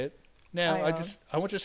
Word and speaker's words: Ione: Now, Ione. I want you to say it properly. Ione. Ione? Like I own a Mercedes. That's right. I own a castle. I own a mirror.